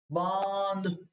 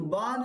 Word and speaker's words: बांध: तो जब आप इसका उच्चारण करेंगे बांध तो बांध इसके साथ ही बोला जाएगा। ठीक है? ब के साथ यानी कि चंद्रबिंदु भी साथ में ही बोला जाएगा नाक की सहायता से जब ये बनेगा अनुनासिक